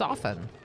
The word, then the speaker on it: often: It's actually a silent T. But some people are like overcorrecting and now they pronounce it often. It's often.